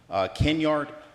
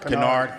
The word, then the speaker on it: Kennard: This evening's program is made possible through the generous sponsorship of Deborah Kennedy, Kenyard, excuse me if I mispronounce her last name. Kennard, there you go, see.